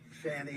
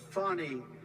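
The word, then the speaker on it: Fani: happening in Georgia with the horrible case of Fanny Willis it's it's actually pronounced fonny it's F A N I bet you pronounce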